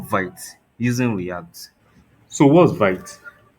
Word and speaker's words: Vite: So what's vite? So vite is pronounced as vit.